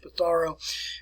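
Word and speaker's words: Pizarro: of francisco patharo that's what you want to pronounce his name is petaro and the incas had a population high in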